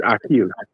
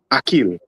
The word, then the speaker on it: Akeel: If you're saying it correctly, it's Akeel. Akeel.